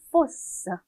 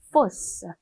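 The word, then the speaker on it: fausse: force, force. S가 두 개가 추가가 돼서 스 발음이 난다라는 거 반드시 기억을 해주세요.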